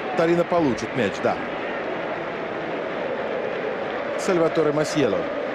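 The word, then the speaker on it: Masiello: Сальваторе Масьело. Масьело. Фамилия какая-то не очень итальянская. Это вокальная позиция S как Z считается в итальянском языке.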